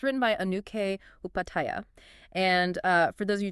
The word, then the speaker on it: Anu Upadhyaya: It's written by Anu Upadhyaya. And for those of you taking notes at home, you pronounce that Anu Upadhyaya.